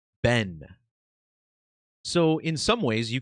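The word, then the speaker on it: בן: And this is important as well because in the Hebrew language, the word for son is spelled bet noon which is pronounced ben.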